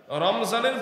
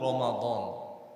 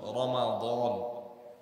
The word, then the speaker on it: রমাদান: number আয়াতে আল্লাহ বলছেন শাহরু রমাদান র মিম দ আলিফ নুন রমাদান যদিও আমরা বাংলা ভাষায় বলি রমজান রমজান মাস মিমের মধ্যে সাকিন দিয়ে পড়ি রমজান শুদ্ধ উচ্চারণ হলো রমাদান